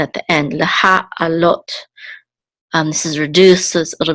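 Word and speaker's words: לְהַעֲלֹת: It's on the last syllable. And this is the cholim with the tav at the end, which the cholim says o, so this is lot. So leha alot.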